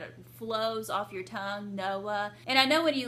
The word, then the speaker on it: Noah: with hall noah hall there's a pause there when you say noah it's small but it's there noah you have to like kind of pause in the middle to get the other syllable out and i just don't